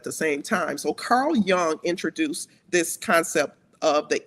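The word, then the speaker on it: Jung: Carl Young and it's spelled Jun N.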